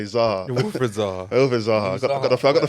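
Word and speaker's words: Wilfried Zaha: No, he said Saha. I meant to say Zaha.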